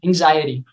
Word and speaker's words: anxiety: a hard time pronouncing anxiety, Mm-hmm. because anxious and anxiety are very similar words. They carry pretty much the same letters, but the sound of the X is very different.